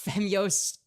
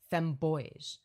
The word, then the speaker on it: Femyoz: Or sorry, not Femyoz. He thinks my name is pronounced Femboys.